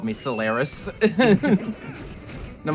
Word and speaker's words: Solaris: That's how you pronounce my name, Solaris.